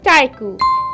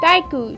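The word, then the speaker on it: 体育: to write physical education so it's written as taiku taiku taiku is the pronunciation the correct pronunciation for physical education taiku it's a kanji and it's really easy you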